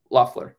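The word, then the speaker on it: Loeffler: sorry yes um Kelly how how do you say your last name again luffler okay uh so Kelly loffler um she made critical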